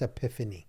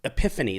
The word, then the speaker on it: epiphany: epiphany yeah yeah uh it's epiphany epiphany that's what I'm saying I knew I didn't know how to say it I got the knee yeah Tiffany's Epiphany right